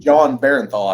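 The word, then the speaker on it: Jon Bernthal: but I It's would John Barenthal, I think is how you say yeah, it. you've got it. Yep, that's it exactly.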